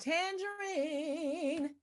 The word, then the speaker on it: Tanjareen: And it's pronounced Tangerine.